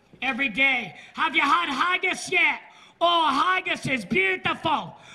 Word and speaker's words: haggis: dish of scotland is called haggis i don't like to eat anything that rhymes with gagas haggis's sheep intestines with